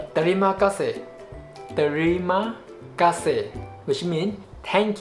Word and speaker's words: terima kasih: Terima kasih, not terima kasih, no. But in spoken way, we will tend to speak it fast. Terima kasih. The sound ter become blended, so become terima kasih.